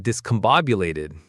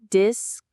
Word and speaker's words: discombobulated: Discombobulated. Discombobulated. The main stress is on the third syllable.